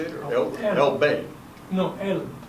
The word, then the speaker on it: Elbe: No, Elbe. Elbe.